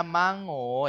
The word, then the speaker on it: mango: Walaupun tulisannya mango ya, mango tapi bacanya mango. Mango light one gitu ya.